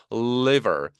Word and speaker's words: liver: liver, li, liver, river하고 liver은 다르죠.